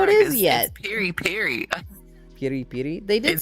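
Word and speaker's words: peri-peri: is yet Peri per Peri Peri they did say it that way per per that's no no there's no D in it it's it's just like per Peri Peri it's like it's the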